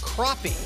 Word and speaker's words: crappie: I'm told on Twitter it is called crappie. Crappie. Oh, so. But it's spelled.